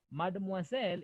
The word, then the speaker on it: mademoiselle: This one is read as mademoiselle. Tuko pamoja? Yes. Mademoiselle. O-I is wa.